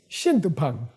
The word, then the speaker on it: shin tu phang: So, Shindupang, okay? Say, Shindupang.